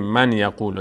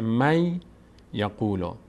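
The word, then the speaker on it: من يقول: اینجا الان بهش میگیم ما نمیگیم من یقول در تلاوت نمیخونیم من یقول میگیم نون نون ساکن بعدش یا اومده تبدیل میشه به یا تشدید می‌گیره یا میشه می خود این نون رو انگار یا ی فرض می‌کنه میشه می یقول می یقول تلفظ درستش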